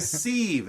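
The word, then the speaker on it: sieve: Hey, all the more reason where we can put politics in one of sounds like a seieve. S I Eve Ve, but maybe pronounced I think it's pronounced civ container that has multiple leaks.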